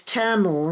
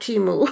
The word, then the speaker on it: Temu: And so it's Tamu, not Timu.